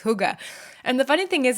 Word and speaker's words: hygge: concept called Huga and it's spelled h y g g e but it's pronounced Huga and actually it was